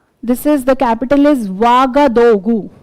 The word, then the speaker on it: Ouagadougou: This is the capital is Ouagadougou. Ouaga. It's written O-U-A, but it's pronounced Ouaga. Okay. Ouagadougou.